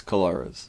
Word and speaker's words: Colares: The island of Corrales. I think that's how you say it. Oh, no, Corrales. Colares. It's Colares. Ah.